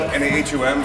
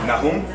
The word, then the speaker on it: Nahum: It's spelled N-A-H-U-M, so when somebody sees it, they're like Nahum. Maybe over in Israel they'll say that, but over here in Las Vegas, America, it's Nahum. All right, it's like an N-A-Y-E-M, and it's biblical.